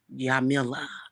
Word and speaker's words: Jamila: gonna name this child yamila and it's actually spelled with the J silent so it's pronounced with